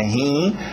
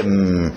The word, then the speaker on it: him: Cuidado com esse I, não coloca meus rins aqui na história. Não é rim, é him.